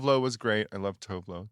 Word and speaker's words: Tove Lo: I love Tove Lo. Tuvelu. How they say it.